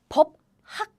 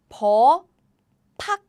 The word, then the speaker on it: 법학: We say 법학, 법학, 법학. By the way, please note that we don't write like this. Nobody write like this. No. We don't write like this. Only the pronunciation is like this.